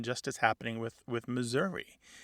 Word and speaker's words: Missouri: happening with with Missouri it's possible that there's um that last syllable because it's not stressed it's unstressed it goes from either some value of a short or a long eye to becoming a schah because some missourians don't say Missouri e or Missour they say Missour more like the